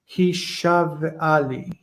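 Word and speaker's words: הִשָּׁבְעָה לִּי: He shava li kayom. Okay, that's very close. Because the ah under the sheen is long. We want to pronounce the shva after it. Hishav'ali.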